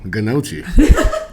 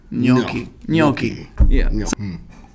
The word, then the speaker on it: gnocchi: it's funny but like when there's a g and an n next to each other in italian you it's like a silent g right and you just bypass it gnocchi shout out to rosso